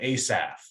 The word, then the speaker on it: Asaph: And generally, at the beginning of Hebrew names, it's pronounced with a hard A, like a long A. So Asaph or Asa.